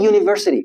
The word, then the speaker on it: university: We say a university although it starts with u but we don't say we don't say an university is wrong. Why? Because it's not a vowel in the first place. It's a consonant.